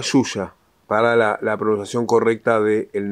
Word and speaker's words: Xuxa: en español porque y la pronunciación de la x en español es suxo se leería y acá dice se lee se pronuncia suya para la producción correcta